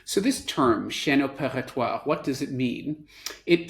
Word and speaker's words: chaîne: is for a very fancy French term called Shen and can actually say it like that because